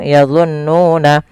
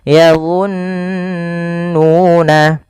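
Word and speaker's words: يظنون: Maka yadhunnuna jangan langsung yadhunnuna tapi ditahan dulu nunnya yadhunnuna.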